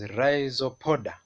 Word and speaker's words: Rhizopoda: So this phylum, the pronunciation is RHIZOPODA, and it includes the Amoeba.